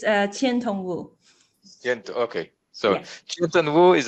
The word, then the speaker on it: Qiantong Wu: Qiantong Wu, do I pronounce it correctly? It's Qiantong Wu.